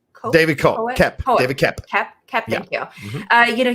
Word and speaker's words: Koepp: Now, David, I feel like I'm mispronouncing his name. Koepp? David Koepp.